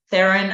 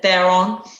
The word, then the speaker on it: Theron: you say her name theron i think it actually is but i always said they're wrong um but charlize what